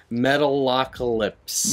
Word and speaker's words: Metalocalypse: hard time pronouncing and they'd call it metal a lot a lot it's like they have a hard time pronouncing I'm like it's Metalocalypse Metalocalypse I guess a metal